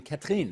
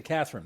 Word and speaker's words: Catherine: at this point that I probably should be calling you Catherine as opposed to Catherine. Would you prefer that? That's fine. I'm used to both ways of pronouncing my names. Well, I think I should probably pronounce it the proper way, given that you're in Quebec.